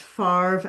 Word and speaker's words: Farve: Um they were known by the children as Farve and Muve. It's, you know, a upper crust pronunciation of father and mother, Farv and Muv.